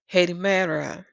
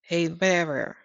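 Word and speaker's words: ἡμέρα: And it's pronounced as Hedimera. Hedimera.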